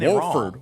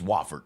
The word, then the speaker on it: Wafford: trouble with wford wford I don't think it's wford y'all on the broadcast they were saying like wford or something like that like Warford Warford spell it spell it where's that they were like throwing in a silent te on it or something they were saying like wford it's wafford w FF o r d spells wafford what I'm telling you